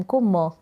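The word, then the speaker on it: calm: गया फिर यह है सी को क ए एल को आ और एम को म काम बन गया यहां पर एल साइलेंट है काम में यानी कि शांत तो यह आपको समझ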